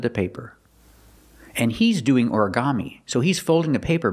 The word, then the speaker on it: origami: look at the word origami this is a Japanese word but we have an American pronunciation Ora Ora orami four syllables origami put the stress on the first syllable and the third syllable orami he's doing origami and